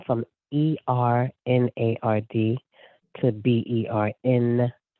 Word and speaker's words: Bernod: The French people would say, Bernod. And if I went to Brazil, they would say, Bernard. And then I go other places, they say, Bernodi.